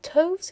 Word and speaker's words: toves: The I in slithy is long as in writhe, and toves is pronounced so as to rhyme with groves.